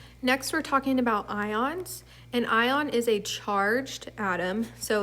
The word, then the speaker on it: anion: a negative ion and it's called an anion you can think of it's kind of spelled like onion onions usually make people cry